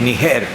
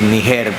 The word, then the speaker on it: Níger: Perdone que dije Níger. Si fuera Níger, tuviera acento en la I. Pero es una palabra aguda, no llana. Sí, sí, Níger, porque si fuera el